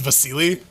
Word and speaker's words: Basil: i know i know a guy whose name is spelt basil but it's actually it's pronounced vasily russian yeah you got